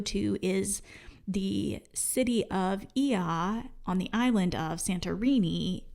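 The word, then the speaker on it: Oia: And I would say in Santorini, you want to go to Ia. Yes. And it's spelled O-I-A. Saying that because I probably in the video, if I say it at all in the video, I'm pretty sure I say Oya or something crazy.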